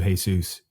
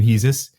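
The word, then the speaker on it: Jesús: going to call you Jesus for the rest of my life. I know that some people call you Hesus. Yes. You pronounce sometimes your own name Hesus.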